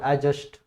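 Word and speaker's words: adjust: इसके बाद एडजस्ट, ये डी साइलेंट रहेगा आपका।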